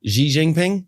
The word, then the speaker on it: Xi Jinping: up given that Trump and the Chinese president Xi Jingping, I think I said that correctly. N how do you say Xi Jinping? Xi Jinping.